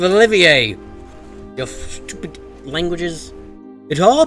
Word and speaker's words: Olivier: Olivier. Why is there an R at the end of Olivier?